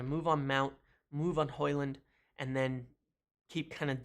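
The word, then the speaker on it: Højlund: I've actually rarely ever heard the name Rasmus hoyland hoyland right that's how you pronounce Erasmus hoyland so they're starting talks on him in more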